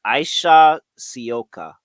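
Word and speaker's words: Ajša Sivka: So, I got a pronunciation and I still feel like I've been saying it wrong. It's Aisha Sioka.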